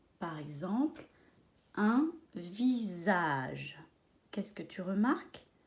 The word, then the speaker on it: visage: Par exemple, un visage. Qu'est-ce que tu remarques? Qu'il y a un S et il se prononce visage. Il se prononce Z.